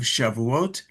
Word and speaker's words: Shavuot: And then on the 50th day is the holiday of Shàuot, which in the Ashkanazic pronunc pronunciation is shuis.